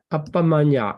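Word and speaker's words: Appamaññā: Then the number 3 group is Appamanya. Can you pronounce this one? Appamanya. Right. Appamanya.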